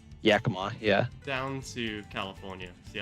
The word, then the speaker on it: Yakima: The other thing I can do is I could do a load from how do you say it, Yakima? Yakima, yeah.